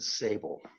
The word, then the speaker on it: Siebel: moving on to Nathan Siebel and is that how you say your last name or sable we actually pronounce it sable that's okay I'm used